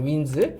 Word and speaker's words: winds: 그래도 어쨌든 직접적으로 되게 잘했고 방금 서영이가 해서 생각났는데 이거는 winds잖아요. winds. 이걸 wind라고 발음을 해버리면 무슨 뜻이 돼요? 테이프 같은 거를 감다라는 뜻이 돼요.